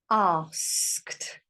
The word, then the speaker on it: asked: Asked. That sounds like a T, doesn't it?